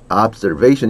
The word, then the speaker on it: observation: Observation. 이거 안 나오던 거 하나 나왔는데 observation. 중간에 z 발음 있습니다.